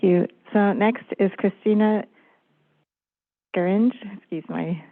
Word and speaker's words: Scaringe: thank you thank you so next is Christina Grange excuse my mispronounciation please uh state your name and your affiliation for the record you may need to unmute on your end good afternoon Christina scaringe for the center for biological diversity with thanks